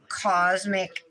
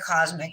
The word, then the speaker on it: Kozmik: a few minutes um these colors again are from cosmic Nails it's spelled k o z m i k nails she has a